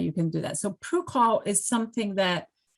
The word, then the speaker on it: PRUCOL: Can you talk about, is it pronounced PRUCOL status? PRUCOL? I'm not familiar with the term. Yeah, it's PRUCOL. Yeah.